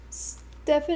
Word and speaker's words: Stefan: Stefan is pronounced like Steven.